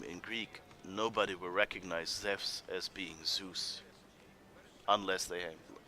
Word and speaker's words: Zeus: So Evpia, that's a Greek thing, that like the EU starting, or the sound spelled by an EU is actually like EV, Ev, there. So that means Zeus would really be pronounced Zeus.